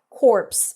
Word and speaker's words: corpse: core but spelled very similarly so corpse is pronounced like that corpse and that means the dead body and core